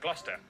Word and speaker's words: Gloucester: Cester is pronounced Ster. Cester. Leicester, Worcester, Gloucester.